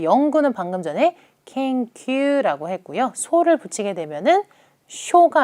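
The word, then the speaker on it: 研究: 오른쪽 제가 바로 앞에서 예제 드렸던 것처럼 영구는 켄큐라고 발음이 될 겁니다.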